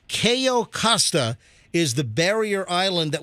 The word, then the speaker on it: Cayo Costa: How do you pronounce? Is it Cayo? How do you Costa. say it again? Cayo Costa.